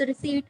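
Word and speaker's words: receipt: रिसिप्ट, बट इट्स नॉट रिसिप्ट, इट्स रिसीट, P silent होता है।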